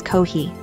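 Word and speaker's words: コーヒー: We also pronounce Kofi as Kohi.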